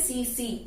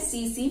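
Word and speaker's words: tsetse: इसकी स्पेलिंग है TSE, ठीक है। इसको हम बोलते हैं सीसी, इसका प्रोनाउंसिएशन है सीसी फ्लाई।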